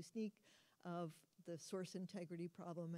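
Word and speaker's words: Snyk: then a nice diagram from sneak or sink I have heard it pronounced both ways I tend to do sneak of the source Integrity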